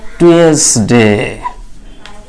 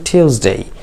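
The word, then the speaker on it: Tuesday: ইংরেজি হয়তো অনেকেই বলবেন টুয়েসডে, তাই না? এরকম কিন্তু অনেকে বলে কি টুয়েসডে। আসলে টুয়েসডে উচ্চারণ করবেন না, এটাকে উচ্চারণ করবেন টিউসডে টিউসডে টিউজ। ওকে, তাহলে বলবেন টিউসডে।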